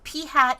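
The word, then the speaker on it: p̂: at the top and this is pronounced p hat like like a hat that you'd wear on your head so P hat so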